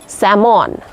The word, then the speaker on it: salmon: हाकुआ न्यूतुम salmon बांगे salmon L silent salmon and lastly HIGH